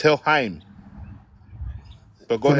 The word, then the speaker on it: Helheim: if you look at Viking mythology, Norwegian mythology, they had an idea called Helhem. Are you familiar with that It's Helheim. But go ahead.